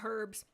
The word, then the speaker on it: herbs: Oh, Sirocco the Winyan says, stop pronouncing the H in herbs.